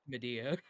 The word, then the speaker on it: Medea: Pronounced Medea.